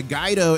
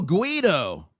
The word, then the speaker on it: guido: Uh Rick Harrison says, you mispronounced uh guido is multifaceted. More recently, it has come to refer to the working-class urban Italian. Oh, guido.